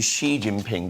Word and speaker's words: Xi Jinping: said a moment ago Xi Jinping I think which I looked up on Google today to get the right pronunciation and it's actually Xi Jinping did you know that